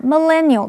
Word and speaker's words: millennial: 这篇文章的第一个重点，我们看 millennial 这个名词，M-I-L-L-E 这个字首有1000的意思，所以 The millennials 是指公元2000年左右出生的人，这样的人归属在所谓的千禧世代或者是 Y 世代。注意它的重音是在第二音节念成 millennial，常常用复数形。例如 One of the characteristics of